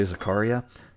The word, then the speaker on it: Zaccaria: true zechariah uh physics or zechariah i know some people say zakaria but when i looked at the actual pronunciation on google it says it's a zak now the aria or urea that's a good question i don't know